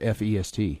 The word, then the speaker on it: fest: Or is it F-E-S-T? F-E-S-T. That's fest. Fest. Okay, so I said it wrong. Fest. Yeah, feast would be F-E-A-S-T. Feast, fest.